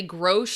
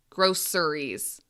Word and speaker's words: groceries: Now, there's actually 2 different ways to say this word. Some people say groceries. Some people say groceries. Okay, there's 2 different ways to pronounce it. Both are totally okay.